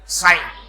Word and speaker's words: sine: हालांकि alphabet SIN के हिसाब से देखेंगे तो वर्ड सिन बन रहा है, लेकिन इसको व्हेन वी प्रोनाउंस क्या प्रोनाउंस करेंगे? साइन, क्योंकि इसके फुल फॉर्म में SINE है, इसे साइन।